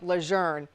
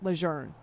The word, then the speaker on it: Lejeune: family members is camp luzerne the family pronounces it luzerne as though it had an R in it which it does not have John luzerne is one